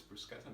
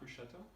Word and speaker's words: bruschetta: talking about bruschetta i've also learned how to pronounce the word it's bruschetta not bruschetta so for your bruschetta you're going to need